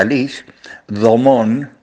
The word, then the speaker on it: Alice Domon: Y entre ellas, dos monjas francesas, se pronuncia Alice, Domon, y Leonie, se pronuncia Leonie, Duquet, se escribe.